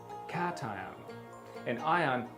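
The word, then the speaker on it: cation: pron icated Caton Caton cat ction is pronounced as cat cat an ion with a positive electrical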